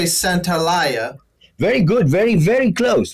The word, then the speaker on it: Santaolalla: I always think, well, I think there's a couple too many syllables in there. Yeah, I tried to explain. I said, listen, it's like Santa Monica, Santaolalla, you know.